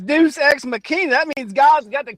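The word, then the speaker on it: deus ex machina: That's that says deuce xmachina.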